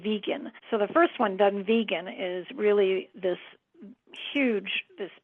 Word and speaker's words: Dunvegan: It's Dunvegan and then the other castle is Elon Donan. So, um, that's that's how it's pronounced. Elon Donan and Dunve Vegan. So, the first one, Dunvegan, is really this huge